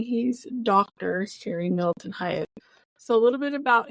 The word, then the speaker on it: Hyatt: HARRY Middleton HYATT.